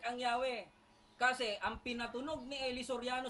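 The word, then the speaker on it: Yahweh: While inclining to view pronunciation, Yahwe is more correct way we have retain from Jehova.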